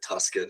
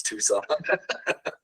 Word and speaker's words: Tucson: that's sweet Tucson I every time I see Tucson I think you pronounce it Tuscan and then I remember it's Tucson but yeah um to